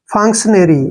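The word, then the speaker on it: function: पर क करेंगे और टी आई ओ एन को हमने क्या लिखना है शन ऐसे शन लिखते हैं सन ठीक है और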